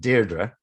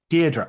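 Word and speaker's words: Deirdre: pronouncing the name correctly well there's lots of different pronounces she would pronounce it deardra deardra okay well I'll pronounce it de where whereas deard would be the Coronation Street pron yeah which is not which is not never the answer to anything so Deedra um especially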